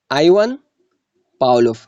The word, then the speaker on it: Ivan Pavlov: Ivan Pavlov, इस तरह pronunciate करना है. इसकी बहुत सारे प्रोनाउंसिएशन है लेकिन ये बहुत कॉमन है.